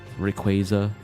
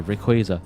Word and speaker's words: Rayquaza: And I can't stand when I'm watching another content creator and they say Rayquaza.